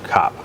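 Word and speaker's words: ครับ: It's actually K-R-A-P, but most of them don't pronounce the R unless you're being very formal. So for men, kap.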